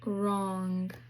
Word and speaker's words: wrong: wr the w is silent so it says r like in wrong.